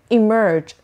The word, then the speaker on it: emerge: Emerge. بچه ساوند اولش ای. Emerge. انیستا ای. Emerge. And the stress syllable is the second one. So emerge.